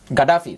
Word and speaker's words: Gaddafi: You realize that all those non-governmental organizations that described Saddam Hussein, Gaddafi, that's how they pronounce it in Arabic, as a dictator, you must leave power.